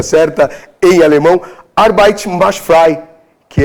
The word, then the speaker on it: Arbeit macht frei: E existiu uma frase na entrada de Auschwitz, que era, espero falar aqui a pronúncia certa, em alemão, Arbeit macht frei, que é o trabalho liberta.